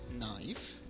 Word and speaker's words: knife: Letter K, if it comes before N, can be silent, like no, knowledge, knife, night, need, etc.